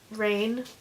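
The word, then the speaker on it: Rahne: Her name was Rain, like the weather, but spelled like R-A-H-N-E.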